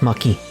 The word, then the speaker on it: marquis: the marquis yes understood and it's pronounced maki triple dot destructive claire